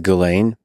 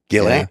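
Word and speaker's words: Ghislaine: pronouncing her name correct I think it's galain gilain well I've heard it both ways gilain or galain whichever it may be I think her argument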